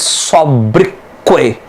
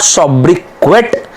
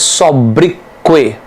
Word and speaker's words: sobriquet: The pronunciation of this word is sobriquet. It is not sobriquet, it is sobriquet.